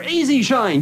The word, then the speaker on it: E-Z Shine: That's right, it's not the word easy written out, it's the letters. It sort of sounds like it when you pronounce the Z and Z. It sounds like Easy Shine.